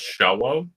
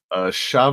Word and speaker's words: Asha: for joining us um no you're not pronouncing it right it's Asha Asha with the accent as as okay yeah I'm trying